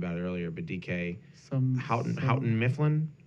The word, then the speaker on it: Houghton: Houghton Mifflin? Houghton. That sounds great. Is that how it's pronounced?